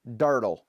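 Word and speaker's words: Durdle: It's not spelled like turtle. It's D-U-R-D-L-E, Dirtle.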